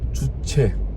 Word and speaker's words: 주체: u c 2 h 2 ju ce 용 발음 들구 듯 알겠죠 주체 예 세계 전국에서 놀랍게도 북한이라는 나라를 주체사상이 라는